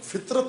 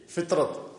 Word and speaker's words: فطرت: توئے رے تے فطرت، لیکن اس تلفظ کے ساتھ فطرت یعنی فے کے نیچے زیر ہو. فطرت، فطرت نہ فطرت، فے کے نیچے زیر ہو، توئے کے اوپر سکون ہو، جزم ہو، اور رے زبر ہو، تے جزم ہو.